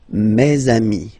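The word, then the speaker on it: mes amis: And then let's be purist and make this beautiful le between these two words. Meami. Mezamei. Meami.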